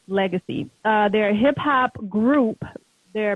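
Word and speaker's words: Legase: you guys see it it's l-e-g-a-s-e and it's pronounced legacy uh their hip-hop group their brothers to be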